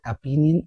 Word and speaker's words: opinion: Is it opinion or opinion? Let's discuss which one is correct. It is a 3-syllable word. Okay. Opinion. The stress is on the 2nd syllable.